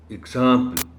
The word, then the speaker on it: example: profit the next word honorable teacher is example this is wrong the correct pronunciation of the word is example or eggs sound here example humility is humility